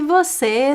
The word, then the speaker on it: você: Especially this one, the você, I only say the second syllable, se, que.